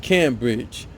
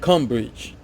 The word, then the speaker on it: Cambridge: to correct him because you pronounce it Cambridge, and Pass was pronouncing it Cumbridge, and the people in the building were not happy about that shit.